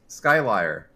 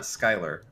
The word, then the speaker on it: Skylier: Well, Skylier Skyler, hey, what's up? It's not Skyler.